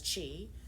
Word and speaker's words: Qi: QI as Chi, Coil, COIL, system, SYSTEM.